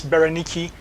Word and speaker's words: Bernice: Drusilla and is given as Bernice in the in the Bible is properly referred to as Bonyi. That's the correct Jewish name or pronunciation.